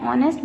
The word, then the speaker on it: honest: The next sentence is his father is an honest businessman. Again H is silent and mute here, so we have used an honest businessman.